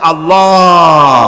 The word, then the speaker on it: আল্লাহ: আল্লাহ পাকের নাম হচ্ছে আল্লাহ মুখটা একটু গোল হয়ে যাবে বলেন আল্লাহ আল্লাহ পৃথিবীতে